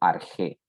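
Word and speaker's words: arché: parche cósmico recuerden que también se puede pronunciar como arjé bueno respecto a la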